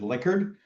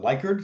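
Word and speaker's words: Likert: Well, I think the the correct pronunciation is liquard, but everyone calls it liyker.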